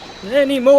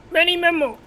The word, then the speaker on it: Menimemo: It's Manny Mo, I tell you. Many mo. You're forgetting a syllable in there, deck that completes the pun. Many memo.